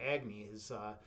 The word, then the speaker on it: Agni: My name Agni or Agni as they pronounce it in Hindu mythology.